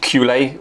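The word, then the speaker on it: culet: apprenticeship about it being a French word of being pronounced cule was correct it seems so I'm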